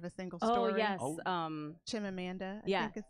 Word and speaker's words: Chimamanda: Chimamanda. I think is how you pronounce her first name.